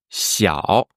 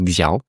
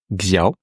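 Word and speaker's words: 小: Voilà parce que généralement les gens qui ne connaissent pas le chinois prononcent Xaro. Xiao. Pourquoi ? Parce que c'est comme ça qu'and un français il lirait le le pigier.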